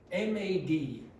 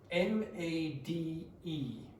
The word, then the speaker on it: made: So what is happening when you put the e on change the pronunciation of the yeah it changes the pronunciation of the vowel makes it longer so you get made